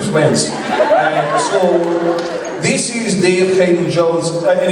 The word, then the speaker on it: Haydn-Jones: So, this is David Haydn-Jones, and it's actually pronounced Haydn-Jones. So, David Haydn-Jones is actually how you actually pronounce my name.